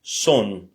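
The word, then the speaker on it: сон: Le C, c'est pas un C, mais c'est un S en russe. Par exemple, le sommeil se dit son.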